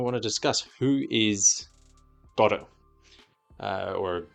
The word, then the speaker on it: Godot: Samuel Beckett's Waiting for Godot. Other people call it Godot, but I have it on good authority, Wikipedia, that the correct pronunciation is the Irish pronunciation, which emphasizes the first syllable, God.